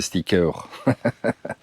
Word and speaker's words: stickers: Ma fille m'a dit, on prononce pas le S des stickers. On n pas aux États-Unis là.